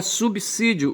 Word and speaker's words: subsídio: E de modo que em subí em subsídio você tem que pronunciar subsídio, o s autêntico, tá certo? Com o som de c, tá certo?